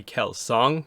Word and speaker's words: Kelsang: probably be pronounced on like kelsang is actually kel song that's the actual pronunciation of the name but no one's gonna